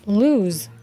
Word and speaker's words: lose: pronounced as loose and with one o is pronounced as lose alright we'll start with